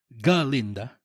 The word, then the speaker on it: Galinda: mas binigyan nila ng shine muna si Galinda. With the G with the G. The G is silentinda.